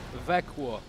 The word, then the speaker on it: Växjö: Also, our partners, first of all, the city of Växjö is one of our partners. Excuse me, Växjö. Växjö, excuse me. You know, I know the pronunciation is so different to the literation.